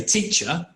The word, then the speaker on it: teacher: like our example before if we look at the word teacher it's written with an R isn't it the final letter of the word is an R but when I say teacher do you hear an R you don't now if you if